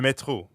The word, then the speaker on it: métro: And the French R is in the middle of métro, so it sounds like you're clearing your throat.